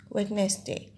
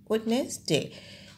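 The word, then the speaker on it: Wednesday: Number five হচ্ছে ওয়েডনেসডে, এখানে ডি আছে, WED, witness, NESNES, DAY, ওয়েডনেসডে। যখন আমরা উচ্চারণ করব তখন ডিটা উচ্চারণ হবে না, কিন্তু বানানোর সময় অবশ্যই খেয়াল রাখতে হবে।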